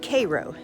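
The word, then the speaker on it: Cairo: But, uh, anyway, it is pronounced Cro.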